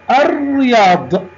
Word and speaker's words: الرياض: كلمة الرياض، لم أنطق اللام، الرياض، حرف الراء عليه شدة وكسرة، يبقى هذه لام شمسية.